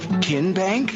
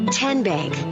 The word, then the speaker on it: TN Bank: green in three minutes how do you say the name tn bank no pin bank uh-uh so what is it ten bank ten as in tennessee right here where all